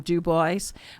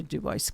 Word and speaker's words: Dubois: Germans when they came in the 1850s did pronounced it French and became Duboce. We have uh the German migration into Duboce County.